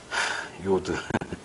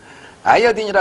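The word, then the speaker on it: 아이오딘: 요건 이제 양초의 경우고, 요드. 아이어딘이라 그러는데 요즘에 이 말 안 쓰는데, 요드란 말이 어디서 나온 거냐면 일본어입니다. 원래 아이어딘인데 일본 애들이 발음이 죽이잖아. 아이어딘 내가 어떻게 하다 이게, 요드 됐으면 이렇게 된 거야.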